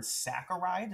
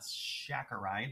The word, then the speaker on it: saccharide: next up we're going to see this word saccharide and that's how you properly pronounce it not saccharide or saturate it's a fancy way to say